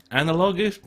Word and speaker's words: analogous: The Block 15 MLU provides an analogous, oh, what a word is that? I'll throw that in there. Analogous. Just make sure you don't get the emphasis on the wrong place.